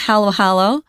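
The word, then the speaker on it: halo-halo: They have something called Halo Hollowo or Halo Hollow uh depending on uh who's talking.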